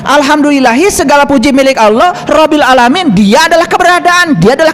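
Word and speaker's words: رَبِّ الْعَالَمِينَ: Bacanya aja kalian keliru. Alhamdulillahiabbil alamin. Hirab. Hirab itu perang. Makanya perang terus. Coba luruskan bacaan alfatihnya. Alhamdulillahi rabbil alamin.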